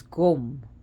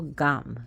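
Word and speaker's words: गं: His seed syllable is Gum, G-U-M, but also Gam. Some people say Gam or Gan.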